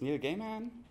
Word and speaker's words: Neil Gaiman: I'm always not sure how to pronounce the name. It's Neil Gaiman.